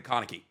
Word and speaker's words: Kaneki: No, it's I'm pretty sure it's Kaneki. That's like how you would say it like Japanesey.